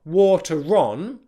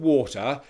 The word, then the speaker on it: water: Okay, you don't stress the R. It's not water on or water is. It's just a very, very subtle connecting R.